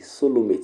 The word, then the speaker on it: coelomate: And lastly, solomate. Solomate is COELOMATES. You say, why do you pronounce it solomate?